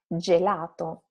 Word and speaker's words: gelato: The fourth word is gelato, something, a word that for sure you are familiar with already. Soft sound.